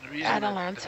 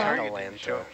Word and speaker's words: Atalanta: the most part by Atalanta, which is so close to Atlanta, and I'm afraid I'm going to say that every time. How do you pronounce it? Atalanta. Atalanta.